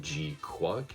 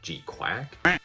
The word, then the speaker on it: GQuuuuuuX: Basically, it is the first 3 episodes of the upcoming Mobile Suit Gundam GQuuuuuuX, which is apparently pronounced G-Quack? G-Quack?